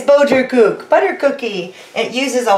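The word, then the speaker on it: Boterkoekje: what we call and I'm gonna say it wrong boat your coop come on oh my dutch friends and family this is your opportunity at my expense it's boater kook butter cookie it uses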